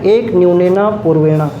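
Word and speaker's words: एकन्यूनेन पूर्वेण: एक और मेथड है जिसको हम पढ़ते हैं और उसका नाम है एक न्यूनेना पूर्वेणा। क्या बोलते हैं पूर्वेण, एक न्यूनेन पूर्वेण बोलते हैं हालांकि, लेकिन इंग्लिश में वही है, स्पेलिंग में और कैपिटल बना देते हैं।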